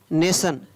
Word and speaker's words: nation: Next, शब्दों के अंत में जब TION, TIOUS, TIAL आता है तो उस समय टी का उच्चारण है वो स होता है। जैसे नेशन, NATION नेशन, नेशन, NATION नेशन।